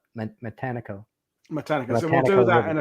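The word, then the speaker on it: Matanikau: Some people call it Mantanico, but the locals in the water call it Matanico.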